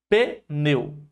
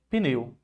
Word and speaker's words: pneu: formada apenas por consoante a palavra pneu muitas pessoas pensam que a separação é essa aqui ó pneu mas não é porque consoante não forma sílaba sozinha então pneu só tem uma única sílaba pneu tudo junto pneu pneu certo então a a nossa